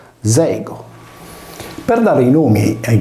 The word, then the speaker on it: Diego: Tutti questi pronomi sono contenuti nel nome di persona Diego, pronunciato Zego.